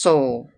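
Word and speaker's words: Seoul: "It is spelled S E O U L and is pronounced Soul."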